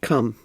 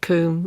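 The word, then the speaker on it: COUM: How do you pronounce it, cum? C-O-U-M? Yeah, or you can pronounce it coom. You can pronounce it either way.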